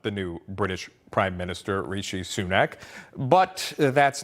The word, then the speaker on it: Rishi Sunak: we'll start with this uh Rashi Sanuk do you remember that that's actually not how you pronounce it President Biden mispronounces British prime minister Rishi sunak now we all know